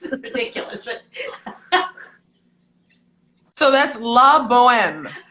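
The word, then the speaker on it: La Bohème: ridiculous but so that's la boheme she said the h is silent honey all right did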